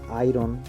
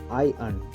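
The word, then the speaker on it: iron: ভুল ভাবে উচ্চারণ করে থাকি যেমন আমরা বলি আইরন আইরন এটা ঠিকঠাক উচ্চারণ করতে গেলে হবে আই আর্ন আই আর্ন ঠিক আছে তেমনি আরেকটা ওয়ার্ড আছে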